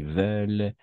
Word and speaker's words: veulent: Et attention, ENT à la fin, on ne prononce jamais. À qui veulent, attardent et sortent.